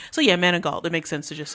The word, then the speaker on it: Manigault: Miss Omarosa, I don't even know how to pronounce her Manigault, name. bro. Manigault.